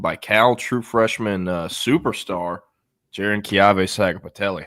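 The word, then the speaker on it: Jaron-Keawe Sagapolutele: Outdueled by Cal, true freshman superstar Jiren Kave Saga Patelli.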